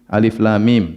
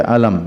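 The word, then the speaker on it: الم: banyak dalam Alquran seperti Alif Lam Mim tidak dibaca alam ya alif lam ro ya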